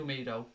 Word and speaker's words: Mido: Mido rhymes with pedo.